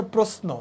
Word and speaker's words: প্রশ্ন: করি বা ইয়ে বাট বাংলা একাডেমি অনুচারে এটার উচ্চারণটা হচ্ছে প্রশ্ন কেমন দন্তস দিয়ে ওকে প্রাণীজ এটা কি হবে